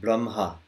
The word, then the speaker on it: Brahma: The second way you said it, Brahma. Brahma. Like the, as if the H was, as if the H was after the M.